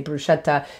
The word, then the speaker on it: bruschetta: lot of people say bruschetta the ch like a chianti in italian right chianti the wine it's just it's a hard k sound so if you ever